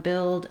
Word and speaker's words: build: The main difference of course is the voiced D sound on build and the voiceless T sound on built.